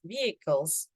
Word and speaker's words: vehicles: there's no age and the I is pronounced as e just like in Indonesian b equals vehicles vehicles okay so instead